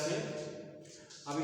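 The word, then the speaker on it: sure: अच्छा, इसी तरह से अब इसमें यस यू आर ई, ये भी क्या था? ये श्योर हो गया। श्योर नहीं पढ़ा जाता, सुअ पढ़ा जाता है। इसमें भी र का उच्चारण नहीं होता।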